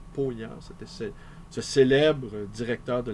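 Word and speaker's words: Paulhan: moi de Jean P on ne prononce pas pa mais Jean pant c'était ce célèbre directeur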